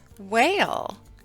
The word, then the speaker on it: whale: the wh consonant team the H is silent as in the words whale and wheel turn in your reading and phonics book to page 13.